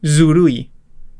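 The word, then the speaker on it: ずるい: Un ejemplo es zurui. Zurui. Se pronuncia pues así.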